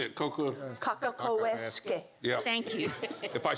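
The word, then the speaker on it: Cockacoeske: Can you pronounce her name for me? Anybody? I have the same problem. Kaka-ko-esque. I almost have to say it. Kaka-ko-esque.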